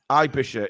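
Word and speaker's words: Aebischer: I mean that that's just that's just panicking I bisher is the way you pronounce it okay I got it right then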